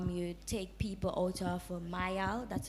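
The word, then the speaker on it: Myal: You were speaking about ways in which you take people out of Mayal, that's how you pronounce it.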